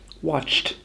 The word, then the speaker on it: watched: We add a t, not a d. We can imagine the words were spelled W-O-R-K-T, worked, or W-A-T-C-H-T, watched, to help remind us how to say them correctly.